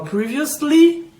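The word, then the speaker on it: previously: privés quando eu falo previas Lee anteriormente Lembrando que esse esse começo desse pré a gente não pronuncia como pré a gente pronuncia como free então preen adiciona vi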